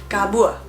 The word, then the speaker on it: kabua: Kabur itu bisa menjadi kabua.